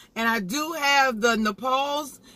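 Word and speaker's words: Nopales: And I do have the Nepales. I think I'm saying it right, but it's spelled N-O-P-A-L-E-S.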